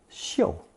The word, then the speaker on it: 臭: And finally, we come to the second pronunciation of this character, the more elevated 嗅, referring to odor.